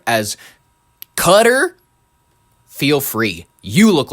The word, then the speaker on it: Qatar: ] just pronounced it cutter. If you are listen and people give me They're like why do you why do you pronounce the the Kiran Karan? Because that's how it's pronounced.